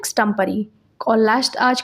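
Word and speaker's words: extempore: एक ऐसे भाषण जो बिना तैयारी के बोला गया है, स्टम्परी कहते हैं, करेक्ट प्रोनाउंसिएशन है स्टम्परी।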